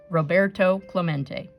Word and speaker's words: Roberto Clemente: heard the announcer stumble through his Spanish name Rob a ro Bert tow Club ain't echoed in the nearly empty stands Roberto Clemente was his name and it is pronounced Roberto Clemente as if to introduce himself Roberto smacked into